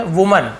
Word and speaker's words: women: Spelling में बस अंतर क्या है, WOMAN वुमन होता है, लेकिन जब हम WOMEN लिखते हैं तो सब विमेन बोलते हैं।